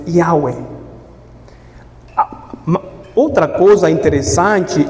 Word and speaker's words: Yahweh: Bom, a pronúncia exata não sabemos, né? Jeová, Javé, mas é Yahweh.